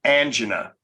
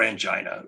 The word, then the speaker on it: angina: up arteries and it's used for angina or angina uh one or the other okay both both pronunciations are correct and that drug is